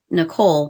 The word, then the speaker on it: Nicole: was because Nicole saw as most of you know her as Nicole, but in our family, she is Nicole. That's the way you say her name.